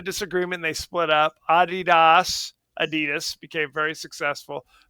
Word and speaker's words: Adidas: So, it's this Oasis Adidas, which why you pronounce it that way, by the way? It's called Adidas. It's not Adidas.